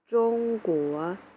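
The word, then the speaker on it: 中国: ตอน นี้ นะ คะ นั่น ก็ คือ ประเทศ จง กั๋ว จง กั๋ว จง กั๋ว เนี่ย เน่า เสีย สิ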